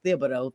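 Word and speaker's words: Thibodeau: You brought up um Tom Thibido. Um I always want to not pronounce the H. It is Thibido.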